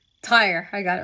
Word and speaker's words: Tyre: Let me see if this is the right pronunciation. Ty. Tire.